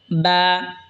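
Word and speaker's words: باء: এরপর এটা হলো বা। বা দুই ঠোঁট হয়তো উচ্চারণ হবে বা।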